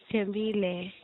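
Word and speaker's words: Thembile: How do you pronounce it? Tembile.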